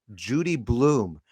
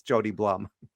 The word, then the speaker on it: Jody Blum: name in Hebrew and they say Judy Bloom and then they go their eyes get wide usually in a store they go Judy Bloom the author you know the writer of children's books is standing in front of me buying you know Shawarma this is amazing and then she says sorry it's not me it's Jody Blum maybe she shouldn't apologize